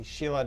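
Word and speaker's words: Silla: of this tour was it was a tour of the Shilla dynasty, which is spelled S-I-L-L-A. Yes, but and in not Korean. S-H-E-I-L-A. No, as not in Sheila, Oshila. like it's Yeah. like a woman's name.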